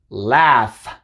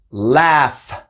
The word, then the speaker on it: laugh: vocales, como dije, pero en algunos casos no son mudas y hacen el sonido de F. Por ejemplo, en la palabra laugh, laugh, así se pronuncia, laugh.